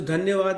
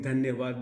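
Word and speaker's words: धन्यवाद: Dhanyavad is correct.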